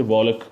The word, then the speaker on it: walk: And L is silent before key in the word, like walk, WALK, we don't say walk, we say walk.